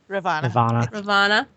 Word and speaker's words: Ravana: Ravana.